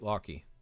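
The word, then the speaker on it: Loki: I mean, that's how you pronounce Locky. It's not spelled that way, though.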